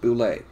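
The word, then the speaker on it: Bulette: Land Shark or the Boulet, and yes, it's pronounced Boulet.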